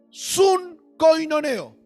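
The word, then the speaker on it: συγκοινωνέω: ¿Cómo suena? Con k. Sun coinoneo.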